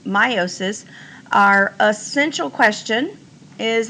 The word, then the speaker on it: meiosis: It's about meiosis. I have heard it pronounced meiosis, but I think the proper pronunciation is meiosis.